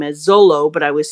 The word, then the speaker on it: Zoro: pronounced Zoro's name as Zolo, but I was saying, as far as I had known, that in Japanese, you never pronounce the R as an R, but as an L.